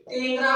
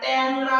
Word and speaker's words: টেংরা: আমরা নেংটা বলি না, ন্যাংটা বলি, আমরা টেংরা বলি না, ট্যাংরা বলি, আমরা লেংরা বলি না, ল্যাংরা বলি।